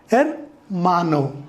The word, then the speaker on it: hermano: So as H is silent, we pronounce with E. E is pronounced as A. So it is hermano, brother.